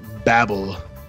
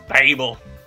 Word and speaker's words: Babel: It's Babel. Babel. Babel. They say Babel on the first song, so that was appropriate. Yeah, I just attributed that to their weird Britishness. But apparently it's the actual pronunciation.